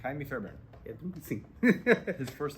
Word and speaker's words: Fairbairn: Is that how you pronounce Fairbairn? Sorry, it's all right. Go ahead. No, how do you say it? Kaimi Fairbairn. No, you're right. Kaimi Fairbairn.